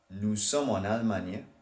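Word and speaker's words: allemand: do the pronunciation before so Al this is what it sounds like on Alman okay there's a little bit of Alman but I think I'm stressing on the end of Alman too much Al so is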